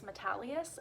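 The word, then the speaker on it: Metalious: But we read Peyton Place in this class, and Peyton Place is by Grace Metalius, I think is how you pronounce the author's name.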